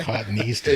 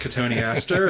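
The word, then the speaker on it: Cotoneaster: Cotton Easter. Yeah. Yeah. Now I know it's pronounced katoni aster.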